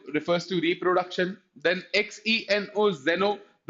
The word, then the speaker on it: xeno: Then xeno, zeno, there is difference in pronunciation. Geno, geno is geno, है ना. xeno is zeno.